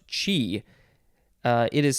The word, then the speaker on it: chi: form of chi o so this actually is pronounced chi uh it is spelled c-h-i or c-h apostrophe